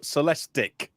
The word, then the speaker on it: Celestiq: The Cadillac Celestiq. How do you say it again, Martin? I was told Celestiq.